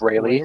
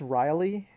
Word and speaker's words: Rayleigh: I was like, I was like, did you just mispronounce Riley? No, So before this podcast started, I think, or I don't know, like around the time this podcast started, we were talking about mispronunciations, and I'm like, is this another word that he's mispronouncing? Like, it's Riley. no, No, no, but yeah, I know no.